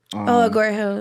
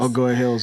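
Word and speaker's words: Agoura Hills: Hey, tell me about how you got casted, and how do you pronounce that's Doja Cat song? Agora Hills. Agora Hills, yeah.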